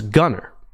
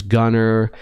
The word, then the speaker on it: Gunnar: He has a brother whose name is Gunnar. Now, Gunnar, not ER. Gunnar. So it's not Gunnar Stockton, it's Gunnar. It's still pronounced the same, but it is kind